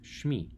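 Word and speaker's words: שמי: Once we put it together, it would sound something like this, Shmi. Now you may notice that Shem has a long E vowel, and suddenly we shorten the vowel, and the reason for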